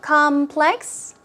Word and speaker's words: complex: complex here we go complex first syllable stress so it's obviously a noun complex we're talking about